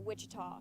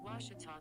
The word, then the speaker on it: Ouachita: university back in texas everybody pronounces it wichita but really it's ouachita washington washington how would you pronounce it it's washita baptist university get it